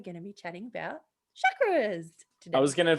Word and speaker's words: chakra: So, most people say chakra, but it's actually really pronounced chakra.